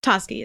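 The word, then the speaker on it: Toschi: before Tashi chose toski toski is how they pronounce it sir I've only ever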